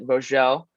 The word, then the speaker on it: Vogel: It's a German name, so it is Vogel, but my dad is actually French and grew up in France, so they pronounce it Vogel, and that's just how it is.